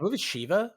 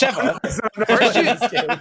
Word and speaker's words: Sheva: Sheva cosmetic. Sheva cosmetic. I believe it's Shiva. Oh my god. I believe it's Shiva, Gary. Yeah, Gary. It's Sheva.